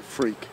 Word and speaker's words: Freke: pronounce your last name you pronounce it freak yeah yeah really I